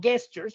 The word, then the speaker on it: gestures: Cuidado con la pronunciación de la palabra gestures, no gestures, porque la G de gato no aplica en este caso. Gestures.